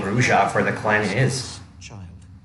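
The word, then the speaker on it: Brujah: Yeah, Skelter's eyes were changed as well, I guess to make it more obvious that he is Gangrel, not Bruja, as we used to think.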